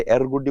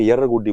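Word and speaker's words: एर्रगुडी: Actually ये एरगुडी, इसका pronunciation थोड़ा हिंदी वाले एरगुडी बोलते हैं, जबकि वहां के लोग जो है वो उसको यरगुडी बोलते हैं। ठीक है, तो यरगुडी, हालांकि अपने को बुक्स के अंदर सब जगह पे एरगुडी लिखा हुआ मिलेगा, लेकिन इसका वास्तविक प्रोनाउंसिएशन जो है वो यरगुडी है।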